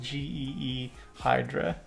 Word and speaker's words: Ghidra: It's pronounced G E Hydra.